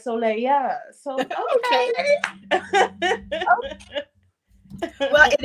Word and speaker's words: Soléya: So I looked up how to say it in Haitian Creole, and it's Soleil. No, I Okay. added the because I thought it was cute. So it's like Soléya.